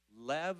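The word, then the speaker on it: לב: And in the Hebrew word for heart, it's lev, I think is how you pronounce it, L-E-V.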